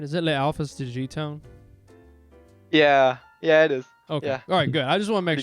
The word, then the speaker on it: Le Alphas De G Town: you and your team uh have I been pronouncing your team name right is it Le Alphas to gtown yeah yeah it is okay all right good